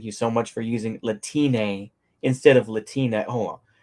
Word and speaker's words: Latine: My point is that it's pronounced the same way as Latino, but with Spanish E, which sounds like E rather than A. It's something like Latina rather than Latini.